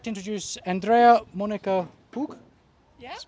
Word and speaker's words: Andrea Monika Hug: So I'd like to introduce Andrea Monica Hug. Yeah.